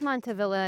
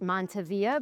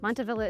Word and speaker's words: Montavilla: of the area, and everybody's decided to keep the hard pronunciation of the L's in order to preserve the original naming.